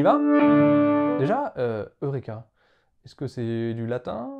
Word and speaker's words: Heuréka: grec vous voyez que sur le U au dessus on a une espèce de petite virgule et en fait cette petite virgule signifie que le mot était prononcé avec un h au début c'est pour ça d'ailleurs que dans la transcription on a bien un H temps Eureka et donc déjà on devait penser comme Eurêka comme en anglais deuxième petit